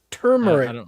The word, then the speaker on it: turmeric: Am I mispronouncing it? Bash says, "Bro butchered saying term." How is it spelled? Like what? Turmeric, no? Right? Did I say turmeric? What am I saying wrong? Turmeric, turmeric, right?